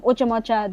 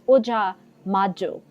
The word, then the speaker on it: Ojamajo: Momoko from Oja Majo. I always say Oja Moja, but it's Oja Majo. I don't know why I want to say Oja Moja.